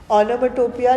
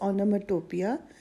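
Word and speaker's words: onomatopoeia: Please याद रखना इसकी प्रोनाउंसिएशन एक्चुअली कुछ और है। इट इज ओन मैटपिया but spellings याद रखने के लिए आई प्रोनाउंस इट एज ऑनटोपिया। इसके स्पेलिंग्स नोट डाउन कर लो।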